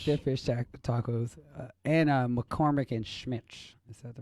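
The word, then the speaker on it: McCormick & Schmick's: And McCormick and Schmitz.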